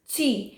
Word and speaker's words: Qi: यस, इधर QI लिखा है बट आई am pronouncing it एज ची।